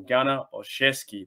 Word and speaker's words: Gunner Olszewski: to dive into a little bit from a gunner or chesky that's how you pronounce it ghana or chesky i was getting